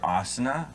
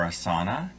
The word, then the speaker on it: Asana: It's either Asana or Asana. And either way, she said they're okay with that.